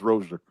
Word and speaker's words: Rozier: Like he says that to be nice, but it's Rozier.